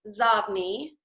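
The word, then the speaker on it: Xobni: pronounce that and what it means that is pronounced zob me it was originally pronounces OD but then they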